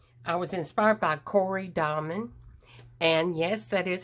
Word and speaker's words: Dahmen: was inspired by corey diamond and yes that is how you pronounce her last name she was kind enough to tell me it's like dominoes without the o's so it's domin okay so thank you